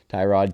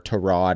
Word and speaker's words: Tyrod: and then ty god tyrod taylor or torod i think is what the actual pronunciation is to the new york